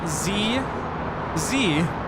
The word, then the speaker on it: Z: guys say it yeah I think we're the only ones who pronounce z z right everywhere else zed zed nice do have a